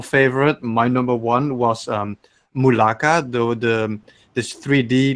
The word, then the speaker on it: Mulaka: Hopefully the Switch version can hold Malarkey? up. Something like that. McCall or It's something. Mulaka. He said it right.